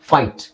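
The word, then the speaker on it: fight: ಪದ ಎಲ್ಲಾ ಪದಗಳಲ್ಲೂ ನಿಮಗೆ ಜಿಎಚ್ ಸೈಲೆಂಟ್ ಆಗಿರುತ್ತೆ ಓಕೆ ಫಾರ್ ಎಕ್ಸಾಂಪಲ್ ಇಲ್ಲಿ ನೋಡಿ ಫೈಟ್ ಜಿಎಚ್ ಹೇಳಲ್ಲ ಟೈಟ್ ಜಿಎಚ್ ಹೇಳಲ್ಲ ಏಟ್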